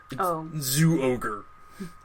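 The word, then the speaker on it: Zyuohger: And then the current season is Zooger, or Animal Sentai Zooger. I have trouble pronouncing it, because it's a Z, but it's like Zho. Zooger.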